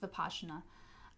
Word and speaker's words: Vipassana: using the veena technique VI PA s si ma Vipassana it's pronounced bipasha na but I'm sure that's